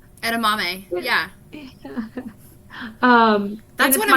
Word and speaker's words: edamame: fiber um i don't know why i can't pronounce this next one edinami edamame edamame yeah um that's one of my favorite ones